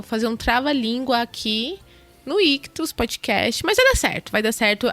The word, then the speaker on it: Ichthus: Lembrando que Ictus se escreve ICHTHUS.